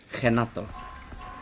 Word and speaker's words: Renato: Renato, or as it is apparently properly pronounced, Kenato. Henato. He is Brazilian.